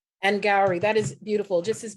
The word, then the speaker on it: Angourie: Angourie rhymes with flowery. Angourie, that is beautiful, just as beautiful as you.